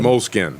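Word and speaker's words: Moleskine: the moped thing mopey moleskin moleskin pin it's SK ine right yeah it's been skinned what they're just the silent E is that right yes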